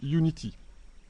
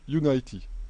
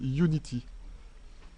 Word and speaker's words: Unity: attention à la prononciation il s'agit bien de unity ok si vous prenez prononcé sa united ça veut dire que vous êtes en 3d en 3d il prononce united en jeu vidéo on prend on dit unity ses tresses est fondamentale alors vous voyez que